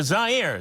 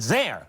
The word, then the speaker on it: Zaire: right away we're in Kinshasa Zaire z-a IRA some would pronounce it Zaire they're wrong mohamad come over here